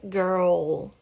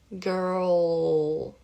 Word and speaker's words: girl: Então, primeiro enrola a língua para fazer o R e depois, né, vai lá pro céu da boca para fazer a pronúncia correta do L. Então fica girl, girl.